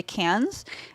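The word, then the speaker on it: Cairns: Brisbane and then cats it's squir though CU it's spelled k a i r NS but it's cans they're like we're just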